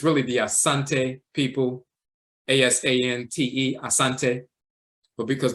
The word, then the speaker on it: Asante: the ti Asante with some will pronounce it Ashanti but it's really Asante so you'll see varying